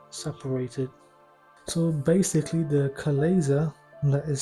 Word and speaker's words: chalaza: So simply grab it with your hands, your fingers, and remove the glazer, which is the stringy bits that I know a lot of people find disgusting.